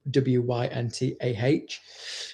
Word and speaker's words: Wyntah: And who my business partner at the time, he says, why don't you call her Winter, but spell it how I spell it, Wyntah, like winter.